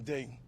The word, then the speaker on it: dei: I said imo day, verbium day. Once you spell day in Latin, it's spelled dei. Come on.